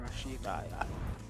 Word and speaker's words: Rashid: I did say it right? Rashid? That's how you say it? Yeah, Rashid.